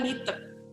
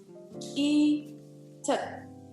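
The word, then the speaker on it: Leeteuk: Kebanyakan deh pasti kalian ngomongnya Litet. Padahal sebenarnya cara membacanya adalah Icet. Icet. Ya. Kok Icet? Yes. Li kalau di Korea itu sebetulnya nggak ada li. Adanya I. Jadi L-E-E ini kalau di Korea itu sebetulnya adalah I.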